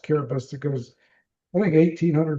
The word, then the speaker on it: Kiribati: We're talking along the equator, country Kiribati, spelled Kiribati, pronounced Kiribati, that goes, I think, 1,800 miles east to west, 24 islands, mostly archipelagos, only one that's higher.